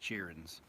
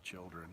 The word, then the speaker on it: children: Yes, I say cheerins. It's a joke. I don't even know where I got that. I mean, I know it's children. I say children.